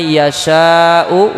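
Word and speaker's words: يشاء: Hamzahnya tetap dibaca. Cukup kita yang membacanya yang merasakan. Artinya napas kita harus berhenti di huruf hamzah, tidak boleh dihilangkan.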